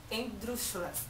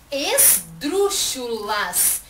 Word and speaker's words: esdrúxulas: a desgraça de ter o acento na antepenúltima sílaba, quando não são xingadas de proparoxítonas, são xingadas de endrúxulas. As palavras áspero, espírito, ricino, varíola, etc. são endrúxulas. Esdrúxulas.